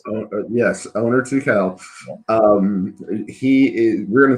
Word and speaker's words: Tukel: of people call it tuckle they call it turkel they see an r in the name that isn't there but order two cal